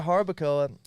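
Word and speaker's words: Jarabacoa: That's exactly, you know, you don't pronounce the J. I know that. You know, so we went to Harbakcoa and we were there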